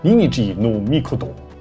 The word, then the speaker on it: 邇邇芸命: 尔尔云命的发音叫做 Ninigi no Mikoto，意思就是伟大的神尼尼基。